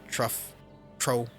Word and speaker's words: trough: So I said trough earlier because I didn't know how to pronounce that. I always kept saying like trough. But it's trough.